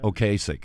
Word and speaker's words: Ocasek: And when former Cars vocalist, I'm sorry to say his name is difficult to pronounce, Rick Ocasek. Ocasek.